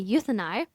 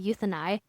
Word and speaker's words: Euthynai: All right, let's circle back to what we teased earlier, the mandatory financial audit called the Euthyni that I mentioned earlier. And that's spelled EUTHYNAI.